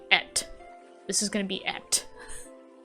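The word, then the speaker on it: Ette: But it wouldn't be spelled like E.T., it'd be spelled like E-T-T-E. Like, you know how like female names, like French names or something like that, they add E-T-T-E.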